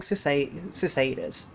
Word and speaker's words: cicada: British English, this is said as cicada. Cicada. Okay, so apparently in Britain we say cicada.